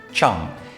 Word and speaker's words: Chang: football launched in 1995 Chang or it's probably pronounced Chong is the most recent